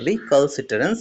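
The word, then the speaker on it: recalcitrance: উচ্চারণটা ভালো করে করবে, এটা উচ্চারণ হবে রিকালসিটারেন্স।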